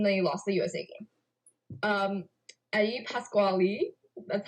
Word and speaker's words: Eddie Pasquale: Eddie Pasquale, that's how you say his name, according to the broadcast, was bad.